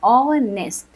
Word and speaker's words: honest: क्योंकि ऑनेस्ट का प्रोनाउंसिएशन होता है ऑनेस्ट, यानी कि एच साइलेंट होता है।